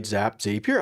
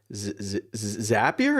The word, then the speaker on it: Zapier: Zapier. I've only ever read it. I've never heard it pronounced. Zapier. It's got to be Zapier because it's zappy.